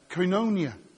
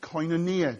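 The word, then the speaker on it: κοινωνία: word communion comes from the Greek word uh coinonia or coinonia depending on how you want to pronounce it it literally means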